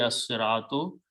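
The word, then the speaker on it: الصراط: lam is a shams, swad is a shamsi letter. So it will become as-siratu. Okay. Pronunciation will be as-siratu, the path.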